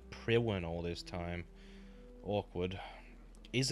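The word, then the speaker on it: Priwen: once glorious god of pre one oh it's pronounced pre one ok then I've been saying pre one all this time awkward is it a cold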